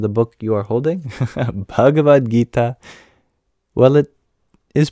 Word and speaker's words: Bhagavad Gita: know yourself is that the H is there for a reason it isn't just any voiced labial consonant it is an aspirated